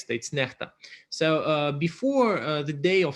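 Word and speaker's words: NEXTA: so the most popular channel that is called necta in belarusian that stands for something often mispronounced as next it's not next states necta so before the day of so-called elections it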